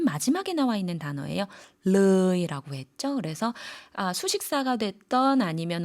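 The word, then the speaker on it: เลย: เ ล ย 르이 같은 경우에는 마찬가지로 의와 어의 중간 모음이니까요.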